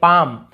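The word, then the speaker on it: palm: यहाँ पर भी देखिए पाम, पाम यानी हथेली, पाल्म नहीं पढ़ रहे, पाम।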